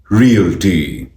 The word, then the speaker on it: Realty: इस शब्द की सही प्रोनाउंसिएशन है रियल्टी, रियल्टी, रियल्टी, री-ओ-टी, री-ओ-टी, री-ओ-टी, realty, realty, realty.